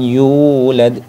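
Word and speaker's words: يولد: disebut dengan Mad Thobi'i cara bacanya yaitu dibaca panjang satu Alif atau satu ayunan atau dua harakat seperti itu teman-teman yulad Nah Paling gampangnya itu supaya stabil di tekan Wam yulad yulad bukan y yulad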